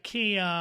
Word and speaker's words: can: Y la razón de que digo ea es porque estoy pronunciando el sonido corto de la A.